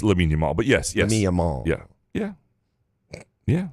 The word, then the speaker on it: Lamine Yamal: It's Lamine Yamal.